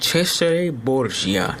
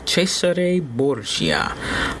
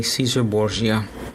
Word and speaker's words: Cesare Borgia: said his name is is is technically it's pronounced Cesare Borgia Cesare Borgia but you know we just say Caesar Borgia you know English speaking we you know we